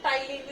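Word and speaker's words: ptyalin: कौन सा enzyme? टाइलिन, इसमें पी साइलेंट है।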